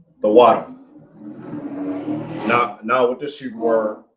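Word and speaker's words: תודה: The water.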